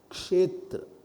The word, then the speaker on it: क्षेत्र: ओम सर सर्पी शीर्षा पुरुखः, जो chanting होती है उसमें क्षा का खा कर देते हैं, वो मत करिएगा आप। क्षेत्र, अपने प्रोनाउंसिएशन को रोज रोज जरा पॉलिश करना चाहिए।